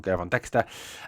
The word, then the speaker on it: Gervon Dexter: The um the Chicago Bears selected Je Gervon Dexter. Keep getting his name wrong. Gervon Dexter.